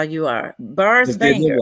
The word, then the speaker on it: Barz: Don't say Barz. It's Barz with a Z, y'all.